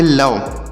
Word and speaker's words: love: इसे आपको लोबे नहीं पढ़ना है। बहुत सारे लोग इसे पढ़ेंगे, यल से लॉ पढ़ेंगे, ओ का प्रोनाउंसिएशन ओ की मात्रा के रूप में, वी से वा पढ़ेंगे, ई से ए की मात्रा, तो इसे लोबे पढ़ देंगे। लेकिन आपको इसको लोबे नहीं लब पढ़ना है।